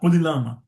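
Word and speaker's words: قُلِ اللَّهُمَّ: So because the first alif, of course, is a silent, then comes lam sakin, because of shadda, kulillahumma. So because it is difficult to pronounce two lam, Kul has become Kuli.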